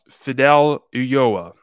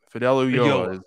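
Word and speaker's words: Fidel Ulloa: tell you right now Fidel uoa Fidel uoa is how you pronounce his name and yes he's probably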